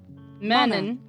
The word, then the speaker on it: mannen: De mannen. Mannen. No N pronunciation there. Lezen. Do you never pronounce the N at the end ever?